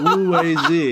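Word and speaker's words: 五味子: I did the first time, but Wu-Wei Zi is how you pronounce it.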